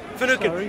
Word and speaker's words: Finucane: Finucane? Finucane.